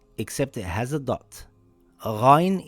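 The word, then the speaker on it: غين: Ghayn is a heavy letter. It sounds similar to when you gargle some water from the throat.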